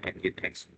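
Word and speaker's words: nginx: Nah ini web server engine X ya. Dibacanya engine X.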